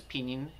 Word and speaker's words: pinyin: who don't speak Chinese the way that I pronounce pinyin is in the Chinese Way which is peening spoken as pronounced and